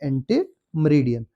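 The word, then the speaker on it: ante meridiem: आप याद रखिए एएम होता है एंटीममेरडियन। इसको बोला जाता है एंटीमरीडियन जिसको आफ्टर 12 एट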